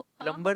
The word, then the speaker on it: plumber: थे ना वैसे ही सो बी साइलेंट हा okay B silent but just feels right to pronounce B है ना टू not keep it silent प्लंबर I don't know